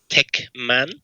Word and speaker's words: Tekmann: Um, so just hit up Techman. Uh, and that's spelled T E A K M A N.